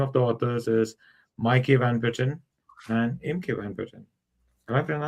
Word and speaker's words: Maaike Van Putten: And the name of the authors is Maaike Van Putten and Imke Van Putten. Am I pronouncing it right?